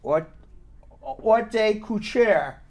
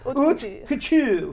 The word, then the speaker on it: haute couture: Now, I had the opportunity to meet with, I can't even pronounce this properly, haute couture designer Odalys Marino.